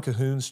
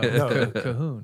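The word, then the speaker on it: Colquhoun: the the gospel and cahon is spelled weird c o l quu yeah uh it that is weird I thought you were saying C weird yeah but no cahun John cahun uh so he's got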